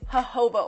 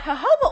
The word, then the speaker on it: jojoba: The next oil is jojoba oil. You might look at it and read jojoba oil, but you have to pronounce the J's with H's.